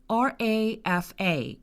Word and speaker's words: Rafa: And the reason why I say it like this, Rafa, is because I'm Brazilian. And in Portuguese, the R in the beginning of a word sounds like a hard H, as in house or horse.